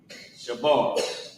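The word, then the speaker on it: שבר: So, Sha character Ba and the character Ra connect Shabar. Right. What's going on with my handwriting today? Shabar. And how you pronounce it is sha and then b a r o shab.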